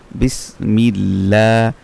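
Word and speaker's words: بِسْمِ ٱللَّٰهِ: লাম জের মিল বিসমিল লাম খারা জবর লা বিসমিল্লাহ যেহেতু লামের আল্লাহ শব্দের লামের পূর্বে পূর্বের হরফে জের সেজন্য সে আল্লাহ শব্দের লামটা কি হবে পাতলা হবে বিসমিল্লাহ লা তারপর হচ্ছে কি হাজের হি বিসমিল্লাহি এখানে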